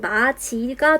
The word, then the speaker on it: 맞이: 맞이라고 써있지만 발음은 마지가 되었어요.